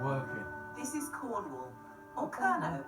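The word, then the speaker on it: Kernow: this is Cornwall or KERO as it's pronounced in Cornish County with its own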